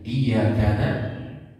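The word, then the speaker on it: iyyāka: Iya, di sini ada tasdid, ada penekanan dari dua huruf sebenarnya, ya, yang digabungkan. Tapi ketika seseorang membacanya dengan tidak bertasdid, ya, jadi iyyaka na'budu wa iyyaka nasta'in, tidak ada tasdidnya, maka itu merubah makna.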